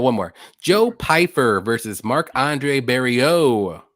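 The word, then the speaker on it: Marc-André Barriault: more Joe Piper versus Mark Andre berio that's how you say it even though it doesn't look like it that's Frenching it up a little bit do you like um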